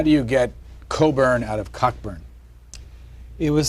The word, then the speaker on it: Cockburn: I'm not responsible, but all Cockburns carry this mission through life: is your name is spelt Cockburn, but you pronounce it Cockburn.